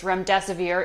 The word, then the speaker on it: remdesivir: You said it right, it's remdesivir.